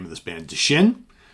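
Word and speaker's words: Dschinn: Deschinn. D as in David, Schinn, Deschinn.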